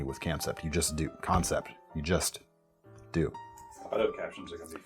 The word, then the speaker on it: Kansept: And really, for long the longest time that's been what Kansept has done so well. I keep saying Kansept I'm sorry. I know it's supposed to be it's pronounced concept.